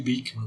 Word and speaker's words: Beeckman: A gente lembra, sempre quando fala em Bickman, lembra do mundo de Bickman, da TV Cultura, né? Mas provavelmente é Bickman mesmo a pronúncia, segundo o Google, pronunciando em holandês ou neerlandês, né, como seria o técnico da língua.